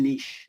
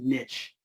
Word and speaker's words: niche: Niche you know back then no one said Niche unless you were from you know Europe everyone said Niche because no Niche sound rhyme with the rich